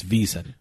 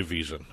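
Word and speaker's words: VSiN: pronounce this I don't I don't say off the whole vsi n it's visa I say visa ok thanks a visa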